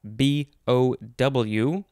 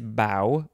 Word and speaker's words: bow: and encephalopathy all right our last word is bao b-o-w uh this one is bow it's the first form in the next episode we will have bo which is spelled the same way and often causes me confusion but bow is a